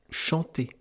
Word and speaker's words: chant: Alors que si vous n'aviez pas su qu'il y avait un T à chant, eh bien, vous n'auriez pas su... Si vous ne saviez pas qu'il y avait un T à chant, eh bien, vous n'auriez pas su que ça vient de la même famille que chanter.